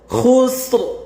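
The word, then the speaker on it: خسر: ওয়াল আসর, আসর, ইন্নাল ইনসানা লাফি খুসর, খুসর। এখানে উচ্চারণটা হবে কি ইন্নাল ইনসানা লাফি খুসর। এখানে কি খ হরফটা মোটা করতে হবে।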